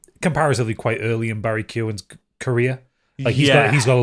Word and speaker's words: Keoghan: Do you think if Oppenheimer hadn't come out, do you think Barry Keoghan, I'm not sure how you pronounce his name. Keoghan.